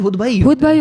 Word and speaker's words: Hoodbhoy: आपने कभी हुड बॉय नाम सुने पाकिस्तान में? हुद भाई सुना है. अच्छा, ये मेरे ख्याल हुद भाई होगा फिर.